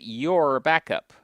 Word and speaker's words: UrBackup: This is UrBackup, as it says there on the screen. UrBackup. You could pronounce it Youre Back Up.